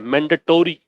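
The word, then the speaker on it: mandatory: और एक टोरी है, मैंडेटोरी। पढ़ते हैं मैंडेटरी, इसीलिए उच्चारण के लिहाज से गलत हो जाती है स्पेलिंग।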